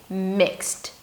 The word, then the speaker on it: mixed: So it's not mixed, it's not mixed, it's mixed.